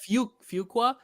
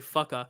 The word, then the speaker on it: Fuqua: Fuqua. I always want to say fucka, but that's not it.